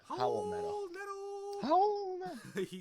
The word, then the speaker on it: Raul Neto: Some other plays that you could be looking at is Raul Neto. It's yeah. We gotta say his name correctly. It's the Howl Neto. Howl Neto.